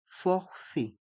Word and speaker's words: forfait: mot forfait les lettres a et i se prononcent e et le T est mué forfait et dans le mot moi les voyelles o